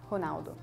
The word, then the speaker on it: Ronaldo: we it's kind of like an age sound honalo honalo we say quite hard right honalo we say